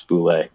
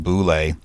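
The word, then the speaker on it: bulette: in the original publication there is a pronunciation guide in there in parentheses and it's it's very clear that it's Boule so the thing is um when it came out Dragon magazine number one and it says pronounced Boule in parenthesis uh the parenthetical note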